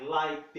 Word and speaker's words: liked: Então é como se nós tivéssemos duas palavras aqui, mas a separação ocorre no E, que não existe. Então é I liked it.